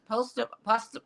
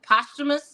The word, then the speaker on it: posthumous: no but it's a post-human uh poster posthumous is how you pronounce that posthumous type of